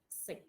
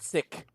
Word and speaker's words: six: number all right yes six six not sick okay six years always remember it's like this yeah it's like this although this is the spelling but the pronunciation could be a attributed to this spelling excuse me okay it's like this it's like the word sick with an s six can you say